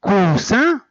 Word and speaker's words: coussin: Et quand on dit coussin, coussin, c'est autre chose. Coussin, c'est wa maq'ad. Coussin, wa kursi. في السيارة أو في الترامواي أو لا, c'est un gros coussin. Coussin. Donc, vous voyez la différence. Tout dépend de la prononciation, tout dépend de l'écoute, tout dépend du son.